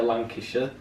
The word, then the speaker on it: Lancashire: like a bit a Lancashire I'll do my how it's pronounced like a shire well I like it